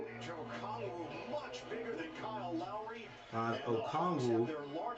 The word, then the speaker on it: Okongwu: Okongwu. That's how you say it.